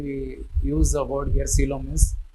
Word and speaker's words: coelom: going to understand what is the advantage of coelom over pseudocoelom. What is pseudocoelom? We will see the advantages here. Pseudocoelom. See, actually here the pronunciation for generally we use the word here coelom is right pronunciation should be in the form of coelom.